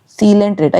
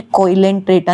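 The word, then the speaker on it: Coelenterata: उसके बाद सीलेंट्रेटा। इसे कोई भी कोइलेंट्रेटा नहीं बोलेगा। बहुत बच्चे होते हैं जो इसकी प्रोन्सिएशन गलत करते हैं। ये कोइलेंट्रेटा नहीं है। ये है सीलेंट्रेटा। यहां पे ओ साइलेंट है।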